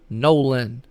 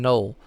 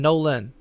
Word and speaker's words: Nolan: name is pronounced ryan nolan nolan okay yeah i don't know for the longest time i've called him ryan nole i don't know why so ryan nolan all right ryan nolan